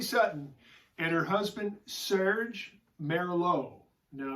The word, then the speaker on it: Merlaud: and her husband Serge Merrill oh no it's not spelled the same way as the wine Merlot but it's pronounced the same way it's Emmy RL AUD